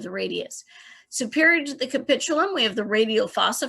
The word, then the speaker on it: capitulum: with uh pronouncing that it is a capitulum think the word capitulate meaning you will give in